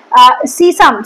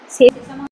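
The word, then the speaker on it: sesame: এরপর আসে সিসাম। সেসাম যেটা হচ্ছে, এটাকে বলা হয়ে থাকে, এটা বানানটা বোধহয় আমি ভুল লিখেছি, সেসামাম তো নয়, সেসামাম নয়, কথাটা হচ্ছে সেসমি, সেসমি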